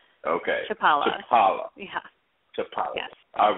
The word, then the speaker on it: Chlipala: I've been listening uh it's chipala so we just say the first is silent okay Chapala Chapala yeah Chapala yes